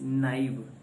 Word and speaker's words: naive: you a word and that is naive the pronunciation of this word is naive n a i v e knife so this